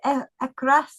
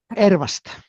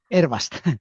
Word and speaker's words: Ervast: Is it Ekras? Is that how you say it? Ervast. Ervast. It's a bit hard to pronounce.